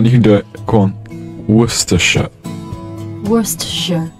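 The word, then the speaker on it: Worcester: can do it on wor sh wor sh wor sh wor sh yeah that's pretty good that's pretty good it's better better than Americans say it they say Worchester sh Bui so how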